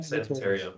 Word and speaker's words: San Emeterio: Is it pronounced San Emeterio? Yeah, San Emeterio, you got it.